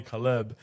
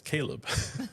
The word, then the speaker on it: Caleb: I was like hey by the way you always call me Kaleb but my name is Caleb. I just want to let you know like how it's pronounced because it's it's stupid